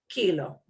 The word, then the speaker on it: kilo: Last letter is a vowel. We punch the second to last syllable. Kilo.